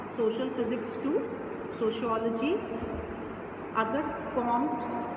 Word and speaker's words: Comte: To keep in mind, it इज़ not August कॉम्टे। कुछ बच्चे इसको ऐसे प्रोनाउंस करते हैं क्योंकि इसकी स्पेलिंग जो है वो COMTE है, बट इट is pronounced as August कॉम्ट या हिंदी में अगस्त कॉम्ट।